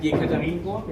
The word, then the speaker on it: Yekaterinburg: I like Yekaterinburg, is that how you say it?